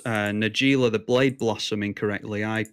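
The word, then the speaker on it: Najeela: I think I pronounce Nagila the blade blossom incorrectly I pronounce her Naylor on my channel and apparently she's actually based on a real a real name that name is from Arabic I think oh and it's pronounced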